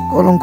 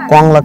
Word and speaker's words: কংলাক: কলঙ্ক পাহাড় কংলাক পাহাড় ভাই কঙ্কাল কংলাক আবার উচ্চারণ করেন কঙ্কাল পাহাড় কংলাক পাহাড় কলঙ্ক পাহাড়